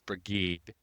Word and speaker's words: Brigid: And I also love that you've called her Saint Brigid because Brigid, as we call her, has very many pronunciations of her name. So Brigida, Brigid.